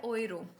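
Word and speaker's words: Euro: देख पा रहे हैं तो इसको हम सिंपली बोलेंगे क्या बोलेंगे जैसे यहां पे आप देख पा रहे हो ओए ओए बोलेंगे ओयरो ठीक है ओयो तो नहीं ब यह है ओयरो इसको हम क्या बोलेंगे ओयरो यहां पे आप देख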